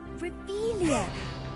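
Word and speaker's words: Revelio: Ugh, Revelia.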